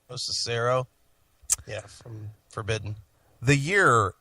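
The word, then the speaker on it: Locicero: Lucero.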